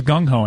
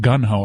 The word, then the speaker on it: gung-ho: says how he talked did you know that it was gung-ho and not gun how a lot of people mispronounce that oh go ahead put